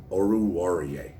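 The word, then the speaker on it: Oruwariye: he's a sleeper of mine i like amari oruarier and i said it i said it right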